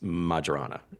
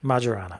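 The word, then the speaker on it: Majorana: got the comment and Maran Websters agrees with Janna that it's majara majara okay I mean probably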